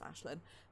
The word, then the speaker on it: Aislinn: I was going to say Ashlinette, because the only way I know how to pronounce the phrase, the word Aislinn is Ashlyn.